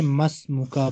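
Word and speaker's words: ما اسمك: इस्मी खालिद, मा अस्मुका, इसको हम पढ़ेंगे मस मुका, मीम को सीन के साथ जोड़ देंगे, अलिफ साइलेंट हो जाएगा।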